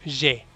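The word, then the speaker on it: j'ai: de algunos diptongos que en francés AI se pronuncia como E, una E abierta. Entonces ahí es je, abierto.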